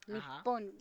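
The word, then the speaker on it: 日本: Nipon. Hay muchas veces no dicen nión, sino que dicen nipon. Mira, que es como si yo le pusiera doble p niip.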